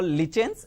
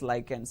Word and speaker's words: lichens: In generally, US English, it is the pronunciation is completely different, and Britain English also pronunciation is completely different. Here, look at here, we can call lichens as well as lichens.